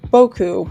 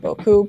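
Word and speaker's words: 僕: um they use Boku pronounced Boku with the emphasis on the bow I I should be pronouncing it Boku but I for some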